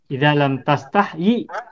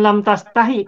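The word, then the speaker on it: لم تستحي: yastahyi artinya malu ya lam tastahyi bukan lam tastahi tapi lam tastahyi meskipun nanti ada sebagian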